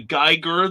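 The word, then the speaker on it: Giger: filming are referring to geiger the alien creator hard g's both of them that's i've heard it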